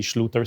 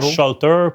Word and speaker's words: Schluter: Mais le vrai nom pour prononcer la compagnie pour laquelle je travaille, c'est Sloter System. OK. Donc pas Shalter, pas Shooter, Sloter System.